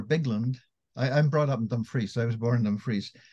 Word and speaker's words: Dumfries: syllable of words, whereas the Scots emphasize most normally the second syllable. So we've got our Bigland. I'm brought up in Dumfries. I was born in Dumfries. Dumfries, Kirkbean, you know, second syllable for the Scots.